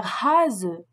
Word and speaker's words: Hase: Le S, en début de mot, et entre deux voyelles. En début de mot et entre deux voyelles, le S se prononce comme un Z français. Il s'agit d'un son sonore qui entraîne une vibration des cordes vocales.